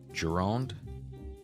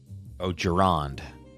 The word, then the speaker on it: Gironde: Gironde? Gironde. Gironde.